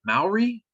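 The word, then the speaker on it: Māori: cultures, but would you say alien weaponry is Maori culture?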